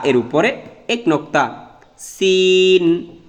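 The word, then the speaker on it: س: Scene, Shin, scene, Shin.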